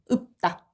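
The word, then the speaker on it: 읊다: 읍다. 리을이 탈락하고 이 뭐지 이거는? 피읍이 음절 말에서 발음이 안 되니까 비읍으로 바뀐 거. 요거는 음절의 끝소리 규칙. 적용해서 최종적으로 읍다라고 발음이 되는 겁니다.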